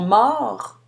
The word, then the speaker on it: morts: on prononce le R, mais on ne prononce pas le T ni le S, alors qu'au féminin, on ajoute le E et on doit maintenant prononcer le T. Elles sont mortes.